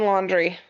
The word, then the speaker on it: Laundrie: Okay, how do I pronounce Brian Laundrie? Are you sure? Yep, I'm sure. Okay. Brian Laundrie.